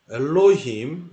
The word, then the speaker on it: 엘로힘: 엘로힘 이렇게 읽습니다. 엘로힘. 자, 범어은혜 하겠습니다. 엘로힘은 얼 더하기 로 더하기 임입니다. 이걸 서양 사람들은 발음을 잘 못해요. 그래서 엘로힘, 엘로힘 이렇게 하는데요.